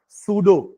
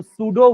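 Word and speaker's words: pseudo: तो सूडो word का मतलब ही होता है false not true. सूडो spelling उसकी चालू होती है पी से। पी एस ई यू डी ओ सूडो।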